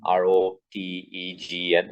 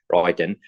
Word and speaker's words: Roentgen: There was this person called Roentgen, Rotegen. It's spelling the G is actually not pronounced, Roentgen.